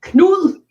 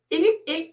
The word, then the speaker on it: Knud: I like the way you say his name, because it's actually don't you want to hear how it's pronounced in Dane? It's Mm-hmm. called Knud. Knud. Canute. Not without the T. Forget the T.